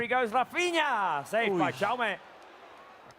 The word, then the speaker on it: Jaume: We cannot pronounce Jaume in the same way, and in Catalan way. Yeah, it's Jaume. But Jaume.